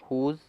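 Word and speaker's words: whose: और वैसे ही हुज़, तो हुज़ में भी यही है, डब्लू के बाद एच है, इसीलिए जो हमारा डब्ल्यू है वो साइलेंट है।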